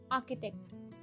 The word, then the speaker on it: architect: anesthesiologist someone who designs building is an architect architect it's not sure that c h is not pronounced as joe it's architect ko architect next